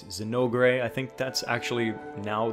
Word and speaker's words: Zinogre: But from what I've seen and from the way it was kind of sort of translated before, it was more Jinoga with like a J instead of a Z.